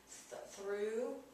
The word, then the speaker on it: through: Through. I'm sorry, it has a long two. It's a two sound.